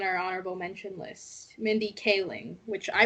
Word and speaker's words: Kaling: next person on our honorable mention list mindy kaling which i pronounced kaling earlier you really had to call yourself out